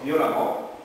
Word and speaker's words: violemment: et on prononce amant et on prononce ça amant hm hm ça on comme l'amant h oui violent violemment constant constamment voilà il